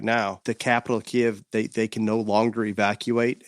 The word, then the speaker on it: Kiev: I think the mayor of Kiev, is that how you say it, Kiev?